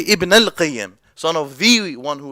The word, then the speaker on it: Ibn al-Qayyim: But the correct way to say both names is as simple. Just to put it simply, you can say Ibn al-Qayyim or Ibn Qayyim al-Jawziyah.